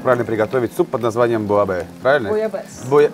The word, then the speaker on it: буйабес: И сейчас будет нам рассказывать, как правильно приготовить суп под названием буабе. Правильно? Буабе. Ну, я, насколько знаю, Зэ не сильно читается там, но может быть.